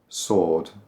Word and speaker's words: sword: It's more like iron, iron, sword, sword. There's a W in there somewhere. Sword, sword. But we don't pronounce that.